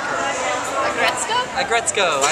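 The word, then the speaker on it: Aggretsuko: I love Arisuku. That's how you say it, right? The Sanrio metal character. I like her. Agretzko? Agretzko.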